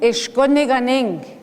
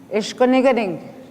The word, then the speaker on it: Ishkuniganing: So you put your reserve name in, Ishkuniganing. Ishkuniganing. You say it, Ning, Ganing, Niganing, Guniganing, Ishkuniganing. See, it comes, if you go backwards, syllable by syllable, it comes by faster.